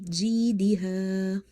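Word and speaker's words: جيدها: So ya is silent, and before ya sakina you see kasra, which makes this ya madda. So you will say ji, ji. Okay, you will stretch the word ji. Then diha, ha, alif is madda, because before alif you have fatha. So here ya madda, again ya madda, and you have alif madda. Fi jidiha, fi jidiha.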